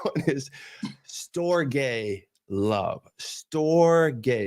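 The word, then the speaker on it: storge: is store gay love store gay it's spelled s it's spelled s o r g e and I say it s t o r g a y store and that is loyalty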